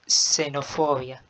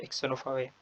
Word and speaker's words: xenofobia: هنا نقطة ملحوظة: في حالة الكلمة بدأت ب X إذا تنطق اس. فمثلا أقول xenofobia وليست xenofobia. Es un gran error.